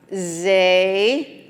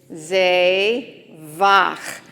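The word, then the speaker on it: זבח: It's the Chet, and so it makes that clear your throat sound, okay? So we have Zevach. Say it again. Zevach.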